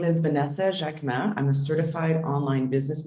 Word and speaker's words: Jacquemin: really bad with pronunciations. Correct me, please. I always ask to be corrected. Jacquemin. Jacquemin.